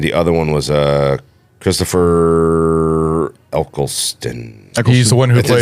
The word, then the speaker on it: Eccleston: One was Brendan Gleeson, and the other one was Christopher Eccleston. He's the one who plays. Is that how you pronounce it? Yeah, Eccleston.